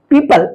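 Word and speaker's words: people: लिखा हुआ है पीपल पीपल यहां ओ का आवाज नहीं हो रहा है ओ का साउंड नहीं हो रहा है साइलेंट हो रहा है वो लेपर्ड लेपर्ड यहां पर भी ओ साइलेंट है अब देखते हैं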